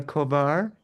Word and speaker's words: Kovar: This is a very special edition with a special guest, Maria Kovar. Is that how you say your last name? Yeah, that's right. You you pronounce it correctly.